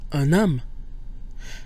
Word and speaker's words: un homme: Notice that un loses its nasal quality when followed by a vowel or, as in this case, a mute H. So we get un homme, where we pronounce the N instead of un homme.